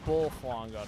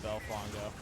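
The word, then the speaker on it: Bulfango: bull in this game so it's pronounced uh bull flongo not B Fango I guess it's more like a bar than it is like a bow it is a menace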